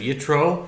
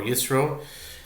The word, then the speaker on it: Yitro: This is article 17 because the para of yetro or yro uh is the 17th Torah portion.